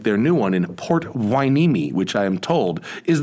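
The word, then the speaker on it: Port Hueneme: official retail locations like their new one in port wineme which i am told is the correct pronunciation if you're not in california or even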